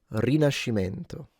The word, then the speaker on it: Rinascimento: Rinascimento.